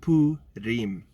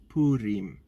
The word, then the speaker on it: Purim: The correct pronunciation is Purim. Purim. Okay, Wednesday the 16th to Thursday the 17th is Purim.